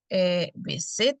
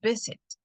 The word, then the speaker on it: visit: Igual sucede con visit. No digo visit, sino visit. Entonces tampoco duplico, aunque tenga consonante vocal consonante.